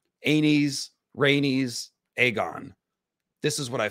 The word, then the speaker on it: Rhaenys: anes not anus aenes rhaenys aegon this is what i feel strongly about aegin and raynus are right out i can't listen to any podcasts that say aegin or raynus or daenerys i like